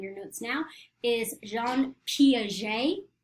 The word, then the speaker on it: Piaget: notes now, is Jean Piaget. He was French, that's how you say his name.